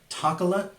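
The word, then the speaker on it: Tacolate: Speaking of surprises, Taco Bell has resurrected the Tacola. Yes? Yeah. Rhymes with chocolate.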